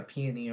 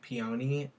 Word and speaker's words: peony: look we got a peony over here i hear so many people pronounce it like peony and like stuff it's a peony how do you guys